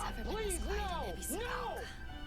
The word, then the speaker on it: Ebisugaoka: I don't think it's ever been this quiet in Ebisugaoka.